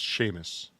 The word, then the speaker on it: Seamus: see Miss McAllen clearly a potato that it's pronounced Sheamus Sheamus mccallaghan Seamus Macau it sounds like a